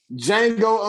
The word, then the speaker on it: Django: Yeah, it's Django untwang. That is funny as shit. We genius with the titles. D is silent. Yeah, the D is silent. D is definitely silent, nigga.